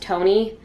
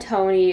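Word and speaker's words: Tone: goes with her friend i think it's pronounced tony i'm not sure it's t-o-n-e who i'm not gonna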